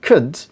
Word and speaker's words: could: could should could if the word is called c-o-u-l-d could the strong form will be could car sound